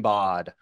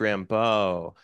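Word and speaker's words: Rimbaud: and I was like my favorite is AR Arthur Rod you know and uh and my teacher was like oh sweetheart it's pronounced Rambo you know and I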